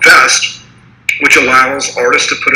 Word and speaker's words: Vezt: Vezt? Correct. All right, cool. Vezt.